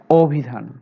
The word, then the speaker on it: অভিধান: অভিধান, তাহলে এই উচ্চারণটা ও দে কেন হলো? কারণ রস্বইকারের কারণে, রস্বইকার যুক্ত ব্যঞ্জন বর্ণ থাকার কারণে অ এর উচ্চারণ ও হয়ে গেছে। অভিধান, নদী, এরকমটা হতে পারে।